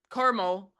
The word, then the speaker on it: Carmel: highlight is that the Caramel Marathon? The Carmel, how do you pronounce it? Caramel. There's Sorry, no extra A.